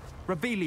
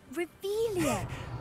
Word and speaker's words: Revelio: Revelius. You're saying it wrong. Ugh, Revelio.